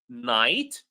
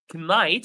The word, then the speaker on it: knight: But the special rule, if you noticed my pronunciation, I did not pronounce the K in these words. I did not say ki, I said knee. I did not say knife, I said knife. I did not pronounce knight, I said night.